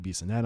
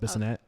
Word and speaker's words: Bissonette: We also had Jamie Bissonette on the show. Bissonette. I think I said his name wrong the first time. Bissonette.